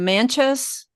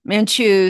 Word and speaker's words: Manchu: He also wants to talk about the yellow emperor which is another important bloodline and the manas is that how you pronounce it. Manchu, sorry.